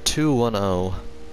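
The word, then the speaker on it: 21O: Pronounced 210.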